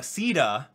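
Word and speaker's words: Caeda: move on to uh ceda ceda here i found out the pronunciation from firearm warriors apparently it's ceta now okay uh but anyway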